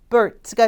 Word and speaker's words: Cuthbert: 윗니와 아랫니 사이에 혀를 이렇게 살짝 끼세요. 네, 낀 상태에서 혀는 뒤로 쏙 빼고 발음을 내뿜는 소리라고 보시면 돼요. 자, 제가 한번 보여드릴게요. 딱 이 소리예요. 그래서 Matthew Cuthbert가 되겠죠.